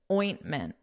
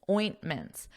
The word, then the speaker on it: ointment: the pronunciation of this ointment o o so a very nasal sound sound kind of like a pig makes ointments oint mins so the end here is more of a mint Min and then plural